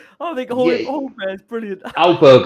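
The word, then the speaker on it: Højbjerg: Hojbjerg, I call him Hojbjerg next to Iceberg.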